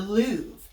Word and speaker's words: Louvre: And the Mona Lisa is actually kept at the Louvre, and that is how it's spelled.